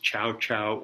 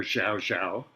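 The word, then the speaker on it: Zhaozhou: Joshu is the Japanese pronunciation. He's also called at various places Chow Chow or Zhao Zhao. And I'm quite sure that no matter which pronunciation we use, it's wrong.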